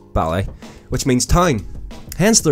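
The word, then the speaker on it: Baile: ballet is English for the Irish word Beale pronounced ballet which means time hence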